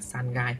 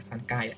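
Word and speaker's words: 三階: Ikai, nikai và sangai. Mọi người lưu ý tầng 3 phải là sangai, không phải là sankai.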